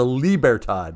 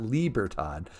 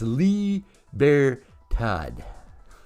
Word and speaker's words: Libertad: lee bear todd wrong it's a liebertodd not libertad i don't speak the spanish sorry dude but he straightened me out so i got it's lee bear todd so we're gonna give